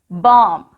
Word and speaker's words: bomb: Bomb. B-O-M-B. Bomb. Here, letter B is silent.